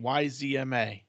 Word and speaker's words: Yzma: YZMA. Yzma. Yzma. Kronk is Yzma's young and handsome right-hand man. Although he isn't very bright, he's an excellent chef, and he oftentimes points out the flaws in Yzma's crazy and ridiculous plans.